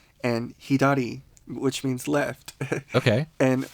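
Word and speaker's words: ひだり: It kind of has like an R and L mixing. So it's not L. Yeah. It's not It's Re. Yeah. Re. Yeah. So Hidari.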